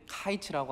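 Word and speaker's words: קיץ: 히브리어로 여름 과일은 카이츠라고 합니다. 이렇게 발음해요, 카이츠.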